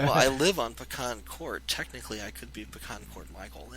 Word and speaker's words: PecanCtMichael: And I pronounce it Pecan Court because a long time ago used to live on a street called Pecan Court.